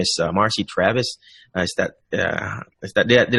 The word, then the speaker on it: Marcy Travis: have a very special guest her name is Marcy Travis is that is that did I pronounce that right mr.